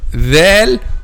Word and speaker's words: ذ: Okay, so the common mistake when pronouncing letter dhal is pronouncing like letter zay or zay, pronouncing like letter zay or zay.